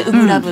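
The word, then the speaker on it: 初心ラブ: れ初、初初心ラブと書いてウブラブっていう風に読むそうで、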